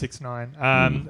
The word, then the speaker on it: 6ix9ine: yeah, it's pronounced 6ix9ine.